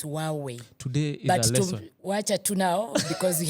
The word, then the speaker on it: Huawei: this pronunciation as well is it Huawei hwei no it's supposed to be hwei it's supposed to be silent it's huwei today watch now because